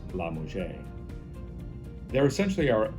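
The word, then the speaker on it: LaMusga: It looks like La Musca, but it's pronounced La Musja.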